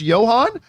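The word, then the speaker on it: Ioan: Oh, it's pronounced Johan?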